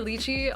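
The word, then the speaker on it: lychee: But yeah, IRL Diana is in fact by Paul says, "I think Lichi or Liuchi are both acceptable pronunciations." And you're about says I heard someone pronounce it licky once and I couldn't tell if he was with me.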